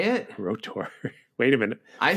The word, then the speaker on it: R.O.T.O.R.: revenge and later we're going to watch 1987's rotor I pronounce it oh that's how you say it rotor wait a minute I said r o t